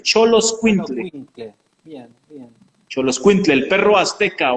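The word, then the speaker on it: Xoloitzcuintle: Bueno, ¿Cómo se pronuncia? Solo Xolo Escuintle, Solo Xoloscuintle, Quintle. Bien, bien. Xoloscuintle, el perro azteca o perro mexicano, Bien, bien.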